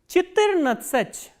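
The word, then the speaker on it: четырнадцать: 14 we say Chittirnatsach, and stress is on E, Chittirnatsach. What about 15?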